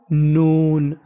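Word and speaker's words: known: एक रूल होता है अगर आपको कभी एन से पहले के लिखा मिल जाए तो के का उच्चारण नहीं करना हमें एन का उच्चारण करना है के हमारा साइलेंट रहेगा तो मीनिंग बन गी के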